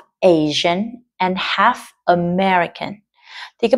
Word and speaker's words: Asia: My mom is from Asia không phải là Asia nhá từ chỉ có hai âm tiết thôi lể ý nhá Asia and my dad is